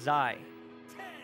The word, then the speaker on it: ZY: ZY, his name is pronounced Zai.